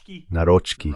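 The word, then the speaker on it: Nawrocki: Esta mañana hablaba con un polaco sobre cómo se pronuncia, creo que es Naroi. Narochi, creo que así es como él dice que se debe pronunciar, el nuevo presidente.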